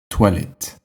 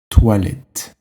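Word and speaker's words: toilettes: in English is toilet tolet you might have noticed by now that when there is an S at the end we don't pronounce it and if you take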